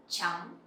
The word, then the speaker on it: trắng: Or you can say trắng, trắng. So when you pronounce TR sound, it sounds similar with TR in English, like train or trees.